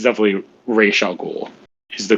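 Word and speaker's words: Ra's al Ghul: that one it's definitely racial ghoul is the correct pronunciation because it's not a name it's an arabic word so i don't remember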